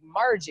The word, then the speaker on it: Margie: like you shorten it it's like margie it's like a soft g right i don't know